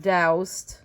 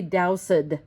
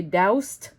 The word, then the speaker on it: doused: If you look at doused or quenched, they look like they have 2 syllables, right? Because of the ed on the end. But if you think about the way we say it, we don't say doused and we don't say quenched. We say doused and quenched. So it's almost as if we wrote, oops, sorry guys. It's like burnt, right? Doused, like that, like burnt, 1 syllable, okay?